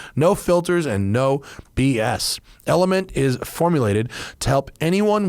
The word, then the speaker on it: LMNT: in part today by element it's pronounced element but it's spelled lmnt because it's techie right can't have vowels